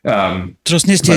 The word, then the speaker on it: Transnistria: And I always mispronounce the name, so if you can help me, Transnistria, I forget exactly how to pronounce it. Transnistria is in English, yeah.